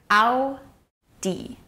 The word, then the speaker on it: Audi: Repeat after me. Audi. With the emphasis on the first syllable.